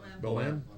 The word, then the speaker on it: Bohème: Is it Boheme? Is that how you pronounce it? Bohème. La Bohème.